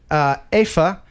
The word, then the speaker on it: Afa: All right, we're going to talk to Afa. Afa is how you say her name.